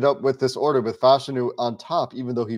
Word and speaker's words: Fashanu: Our listeners certainly and viewers know how I feel about Amarius Mims in the upside, but Olu Fashanu, and I'm glad I'm saying the name right now.